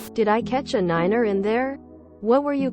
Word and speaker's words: Niner: second syllable Tango Yankee because nine sounds too similar to five over a radio did I catch a Niner in there what were